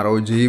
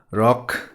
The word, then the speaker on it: ROG: ada arodj font Tria ini bacanya arloji bukan rok varian RAM yang 8